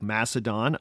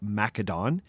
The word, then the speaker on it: Macedon: My students and I are looking at conquest states like Macedon under Alexander, or Macedon, depending on your pronunciation preferences, the Romans under Julius and Augustus, and the Inca under Pachacuti, among others.